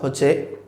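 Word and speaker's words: ح: বলবো ইনশাল্লাহ এরপরের বর্ণ হচ্ছে হা এটা আমরা হলকের মাঝখান থেকে উচ্চারণ করব যেমন হা আমরা হা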